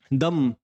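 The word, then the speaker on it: dumb: word है हमारे पास यहां पर बी साइलेंट है यह क्या होता है दम और प्लंबर बोलते हैं हम यह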